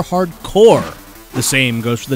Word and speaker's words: Hard Corps: this Genesis game is not called Contra hard corpse but rather a contra hardcore the same goes for